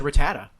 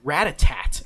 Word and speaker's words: Rattata: like rattata oh yeah i always said rattata everyone i had people who said ratatat and i'm like there's no t at the end yeah i i also